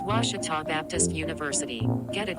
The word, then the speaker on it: Ouachita: at a baptist university back in texas everybody pronounces it wichita but really it's ouachita washington how would you pronounce it it's washita baptist university get it right it's watertall people